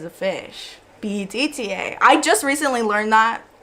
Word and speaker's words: betta: So, a beta is a male, beta male, like B-E-T-A, beta. And then betta is a fish, B-E-T-T-A.